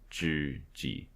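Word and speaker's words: 知几: Oh, it says Liao Zhiji.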